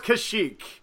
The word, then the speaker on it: Kashyyyk: or say Keswick which I do know is Kashyyyk but I like to say cashew ik instead is the wookie home